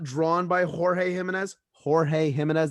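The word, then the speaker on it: Jorge Jiménez: drawn by jorge jimenez jorge jimenez that's how it's pronounced on there yes not george jims um uh the art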